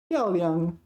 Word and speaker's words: 漂亮: 漂亮 is 4th tone. 漂 1st tone.